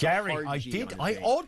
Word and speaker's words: Gerry: It's Gary, I did read that.